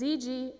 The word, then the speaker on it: Zgardowski: It's Zgardowski, and the G is silent.